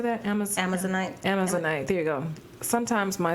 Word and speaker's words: Amazonite: Amazonite, there you go. Sometimes my syllables, you guys.